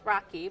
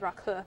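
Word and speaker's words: rakı: nice gesture actually from from the host also pronounced rocky but i guess the proper pronunciation is raku is a it's very much like sambuca but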